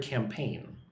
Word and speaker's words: campaign: Look at that word campaign. Campaign, two syllables.